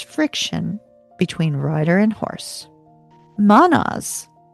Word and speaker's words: Mannaz: Mannaz m a n n a z is humanity itself.